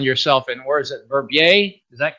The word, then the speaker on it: Verbier: But normally you two find yourself in, where is it, Verbier? Is that correct pronunciation, Switzerland?